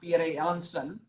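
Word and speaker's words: Pierre Janssen: is pierre yang's son that's how his name is pronounced pierre johnson and pierre johnson is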